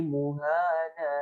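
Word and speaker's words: مهانا: adalah wa yakhlud fihi muhana. Nah, ini tetap dibaca panjang. Ini ada tanda ya kecil di sini yang seperti cacing menurut. Jadi bacanya panjang.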